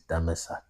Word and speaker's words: Damascus: you interlinear, the way Damascus is properly pronounced. Damascus is Greek sounding. The real way to pronounce Damascus is Damasak or Damasak.